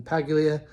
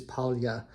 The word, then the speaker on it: Paglia: I'm trying to pronounce her name the proper Italian way with the palatalized L rather than Paglia. I believe it is Paglia.